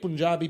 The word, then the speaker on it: Punjab: grabbed his ankles why because of the great Punjabi people of Punjab okay thank you for pronouncing it correctly yes I will pronounce it